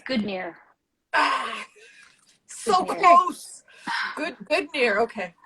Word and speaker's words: Godenir: It's Godenir. So Godenir. Close. Godenir. Okay. Godenir. But it's spelled Godenir, so.